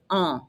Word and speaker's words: ans: Répétez, j'ai 14 ans. The word for years, don't pronounce the S, and the AN is an an.